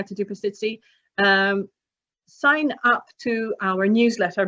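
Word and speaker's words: pastizzi: Are you laughing at my pronunciation, or are you? No, you did it quite well. It's pasticci.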